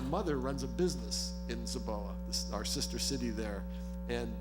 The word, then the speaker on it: Zibo: I think the last thing I want to talk about briefly is, as you know, I'll be going to Zibo. It's actually pronounced Zaboa, so I'm trying to get over in China.